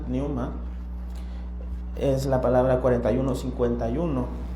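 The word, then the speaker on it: pneuma: Les quiero leer eh la palabra original del griego, que es es la palabra newma. Se escribe p n u m a p neuma. P neuma. Y recuerdo que se pronuncia newma es la palabra 4151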